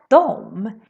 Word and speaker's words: de: So we say dom, dom, dom, dom, dom, dom, instead of de. For example, de är bra instead of de är bra, which is how we write it. But when we talk, we say dom.